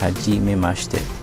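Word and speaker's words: はじめまして: in japanese we say jimmy maste which is pronounced hajime master try saying it with mizuki now so if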